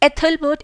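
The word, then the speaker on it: Æthelberht: एथलबर्ट इसकी प्रोनाउंसिएशन होगी।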